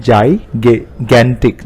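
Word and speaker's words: gigantic: जाइगेंटिक, इसको हम pronounce करते हैं जाइगेंटिक, जाइगेंटिक, huge, very large.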